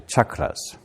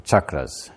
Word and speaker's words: chakra: more fun to say i feel like i'm going to be shocked which is fun versus chucked which is not so we have chakra